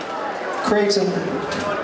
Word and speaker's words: Creighton: Creighton, rhymes with Dayton, Ohio.